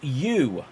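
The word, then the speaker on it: ewe: And then James Parker says, what if they were saying you, like the sheep, which is spelled E-W-E?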